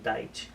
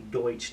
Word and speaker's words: Deutsch: My dad calls it Deitch, pronounces her last name Deitch, but if you look at the word, it's and pronounce it in English. In German, it would be Deutsch, D-E-U-T.